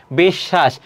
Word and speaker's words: বিশ্ব: তারপরে কি আছে দেখো, বিদ্যান, পক্ষ, বিশ্ব, একই রকম। বিশ্ব এটি বানান, এর উচ্চারণটা কি হবে, বিশ, তারপর হবে কি শ, এটি হবে।